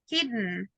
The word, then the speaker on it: hidden: Don't pronounce letter E. That's a tricky. It's just grit and then sound. Hidden, rotten, mittens.